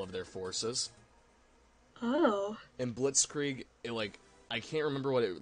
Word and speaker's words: Blitzkrieg: Blitzkrieg is how that's pronounced.